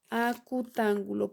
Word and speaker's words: acutángulo: Entonces, sus 3 ángulos son agudos, por lo tanto, este es un triángulo acutángulo, acento en la O. Este es un triángulo acutángulo, porque todos sus ángulos miden menos de 90 grados.